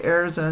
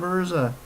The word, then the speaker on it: Erza: It's not hard to say Erza instead of Urza.